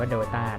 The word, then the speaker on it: Dota: เข้า สู่ เน Play doa นะ ฮะ สำหรับ 2 Episode ก่อน หน้า นี้ ผม อ่าน ชื่อ เป็น Do a ต้อง ขอ อภัย ด้วย นะ ครับ จริง ๆ อ่าน ว่า ดต้า นะ ครับ อ่า สำหรับ